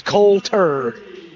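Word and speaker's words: Coulter: I'm G to start telling him to leave the you out on the deal that way it's Colter starting lineup for the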